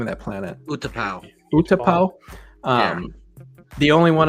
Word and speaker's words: Utapau: And it was in the last question, the one that Obi-Wan took off Utapau. How do you say the name of that planet? Utapau.